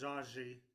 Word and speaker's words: Osage: age with my brothers my Osage Brothers was zaji is how they say it um and so I